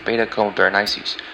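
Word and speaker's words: Beta Comae Berenices: Coma Berenices' brightest star is pronounced Beta Coma Berenices.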